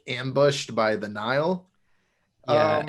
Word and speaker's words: Nihil: close out part 1 kind of introduces the Nile. Is that how they're Yes, pronounced? the Okay. Nile.